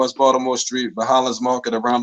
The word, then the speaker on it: Baltimore: so it's a b you still say baltimore you just don't put the t there some people try to drop it and say bald more no it's it's another another syllable there but just getting back